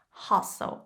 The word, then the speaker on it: hustle: And please note that we don't pronounce the T's, hustle and bustle.